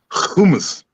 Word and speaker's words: hummus: Hummus. You got to get a little phlegm in your throat when you pronounce it.